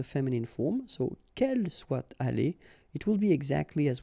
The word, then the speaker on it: allée: The good thing, as usual in French, is you will pronounce it aller, aller, aller, and aller. So technically you don't pronounce the final e, you don't pronounce the final s, and you don't pronounce the final es.